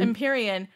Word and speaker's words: Empyrean: It's Empyrean, yeah.